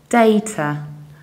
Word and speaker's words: data: to speak with so in the British accents we usually say data dates I with a soft British T data however it can happen but surely are also data data with along are the American accent Americans would say data data with a strong American see data or data data with app and still strong American T data data data data